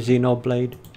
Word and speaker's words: Xenoblade: or xeno are you Xenoblade even though it's spelled with an X and not Z but whatever see no blade chronicles